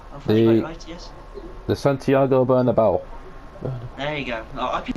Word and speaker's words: Santiago Bernabéu: to plan so it's hot I can never pronounce the stadium Santiago Bonneville absolutely Lyceus the Santiago bernabéu there you go I could never date its